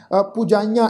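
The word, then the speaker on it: ਪੁਜਾਈਆ: पुजाइयां, ऐड़े नूं कन्ना, उत्ते बिंदी सहित नासक उच्चारण करांगे पुजाइयां।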